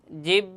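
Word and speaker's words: ظ: কিন্তু এই জ হরফটি উচ্চারণের সময় একটু শক্ত হবে। জ এভাবে একটু শক্ত করে পড়তে হবে। জ কিন্তু উচ্চারণের স্থান একই জায়গা কিন্তু এই দুটোর ক্ষেত্রে একটু নরম ফা আর জালের ক্ষেত্রে একটু নরম আর জর ক্ষেত্রে একটু শক্ত করে পড়তে হবে আমরা মসকরি এবং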